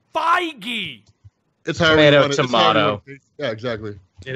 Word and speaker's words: Feige: try it but straw stop saying Kevin fakie its Feige the Tyranno tomahto exactly